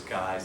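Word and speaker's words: Keyes: Um, I have to say Ken Kais because I was corrected once. I used to say keys. Someone that knew him said it was Kais.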